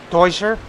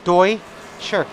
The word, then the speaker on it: Deutscher: long inches down Sanchez toy sir no sir Deutscher sorry it's just a habit it's that's how it I know it's spelled the other way but German DOI sure anyway I would suspect